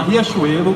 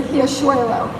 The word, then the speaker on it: Riachuelo: gente trabalha com a Riachuelo, com a Renner e com a He Happy, que para os americanos é super difícil falar, para pronunciar o R dessa forma.